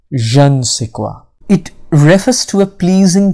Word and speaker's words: je ne sais quoi: meaning but first repeat after me can be pronounced jean i like saying jean sequoia it refers to a pleasing quality that cannot